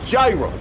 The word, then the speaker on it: gyro: and get a hero I want a gyro it's pronounced yo oh that's how it's pronounced the New Yorker can't